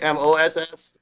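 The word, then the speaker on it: Maus: did they spell it m-o-s-s or do they no it's just one s like german style and m-a-u-s moss yeah it's just one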